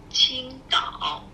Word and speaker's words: Qingdao: Qingdao. Qingdao. Qingdao. Do we have the correct pronunciation of your name?